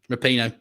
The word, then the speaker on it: Rapinoe: Cultural icon Megan Rapinoe. Or Rapinoe? Yeah. Rapinoe. So cultural icon Megan Rapinoe is a world champion for the US in which sport?